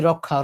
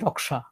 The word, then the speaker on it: রক্ষা: যেমন এই রক্ষা আমরা বলি রক্ষা। ওরা বলছে কি? রক্সা হিন্দিরা বলে হিন্দি ভাষায় বলে রক্সা। মানে ক এবং স টাকে ওরা ভেঙ্গে উচ্চারণ করে।